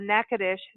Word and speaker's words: Natchitoches: okay number one everyone there's a recipe on NACA desh calm I'm going to spell it out again na TCH i TOC HGS